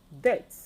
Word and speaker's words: debt: If you look at the spellings, they all have a B spellings, which is silenced.